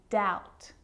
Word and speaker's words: doubt: Subtle, debt, and doubt. So see, in all of those examples, my lips aren't closing and coming together to form the B sound. I'm just pronouncing the T. Subtle, debt, and doubt.